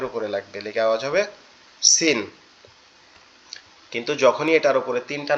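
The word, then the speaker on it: س: এটা এটা কি নোক্তা ছাড়া এটা হচ্ছে সিন সিন আমাদের জিহ্বার আগায় নিচের দাঁতের উপরে লাগবে লিখে আওয়াজ হবে সিন কিন্তু যখনই এটার উপরে তিনটা নোক্তা দিব তখন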